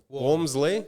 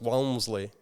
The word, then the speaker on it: Walmsley: say yeah walmsley well it's almost pronounced like w-a-r-m like warm walmsley yeah and then uh when my dad was like 65 he suddenly decided no no it's pronounced wellmsley like and i'm like